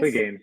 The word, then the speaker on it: Clegainz: How do you pronounce it? Clegainz? Yeah, Clegainz.